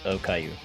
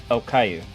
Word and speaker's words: okayu: And just for Essy's sake, the meal that she's eating is okayu. What? Yeah. It's what? Okayu. O-K-A-Y-U. We're talking about However the you children's pronounce show with the bald cancer patient.